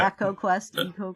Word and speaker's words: Eco: yes um I was friendly with go and Echo e EO is how we pronounced it at the time and and it